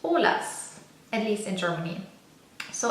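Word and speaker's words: Olaz: but the Y is a Z, and it's pronounced Olas, at least in Germany. So everyone knows oil of Olas, which is oil of Olay or Olay.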